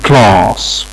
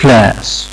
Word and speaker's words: class: فهنلاقي ان هو استخدم بالنسبة لنطق حرف الاي هنا استخدم الصوت اللي كان موجود في كلمة arm، فبيقولها class class. صوت الاي اللي هو الطويل المفتوح اللي موجود في كلمة arm class. طيب لو قلنا لحد امريكان انطقها هيستخدم الصوت اللي موجود في كلمة at class class.